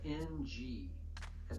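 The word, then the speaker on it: င: The first letter sounds like the letters NG at the end of the word sing. Nga, nga.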